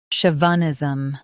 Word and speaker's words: chauvinism: Stress show. Keep v soft and finish with nism smoothly. Chauvinism.